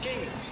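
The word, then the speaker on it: Küng: King the Swiss from it is spelled KU with a I'm not sure the name the symbol on top of it ng. So, as English speakers, you are drawn to saying, he says himself, it's pronounced king, which makes it easier.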